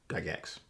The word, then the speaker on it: Gygax: Gygax. It's pronounced Gygax.